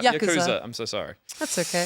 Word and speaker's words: Yakuza: would have known that is the beauty of Yakuza games yeah I I think this is a